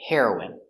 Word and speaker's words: heroine: The pronunciation is the same. The drug heroin and the person heroin. Hero is for a boy and for a girl we say heroine.